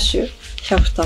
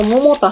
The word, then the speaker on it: 百田: お高いじゃんはい続いて日本保守キャフタさんこれも昔の話なんだけどこのチャンネル初めてキタさんの読み方を私ずっともたさんだと思ってたのそう